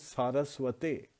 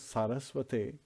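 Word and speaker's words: Sarasvate: So his name has Saraswati, so it becomes Saraswate. So this is also very important. And we keep reminding the devotees to pronounce Saraswate because it is the right way of pronouncing.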